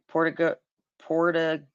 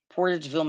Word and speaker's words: Portageville: home in Port P I have a hard time pronouncing that portug portug Portageville Missouri Portageville that's what it's called on March 12th 1998